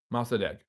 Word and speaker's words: Mossadegh: Mossadegh. That's how you pronounce his name.